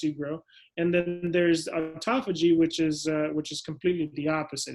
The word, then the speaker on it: autophagy: But the term of it is called autophagy. It's spelled AUTOPHAGY, and it's a pathway that we have.